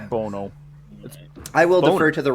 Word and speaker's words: Bono: It's Bono, for Christ's sake. It's Boner, right? It's Bono.